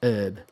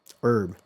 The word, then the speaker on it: herb: We also tend to pronounce the H in herb. But, Americans says herb, herb.